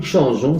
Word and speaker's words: changeons: Ejemplo, changer, nous changeons, se añade una E después de la G, como hemos visto estudiando la fonética con el verbo manger, para que la pronunciación siga je y no se modifique al G, mientras la pronunciación es